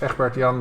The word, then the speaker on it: Egbert Jan: It's Dutch name, so his the way to pronounce this is Egbert Jan.